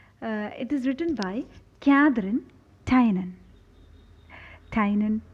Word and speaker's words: Tynan: have heard people saying Tynan nan Chu I reference the canal T and I found that it can be pronounced either ways Tina no Tainan sherry onna see we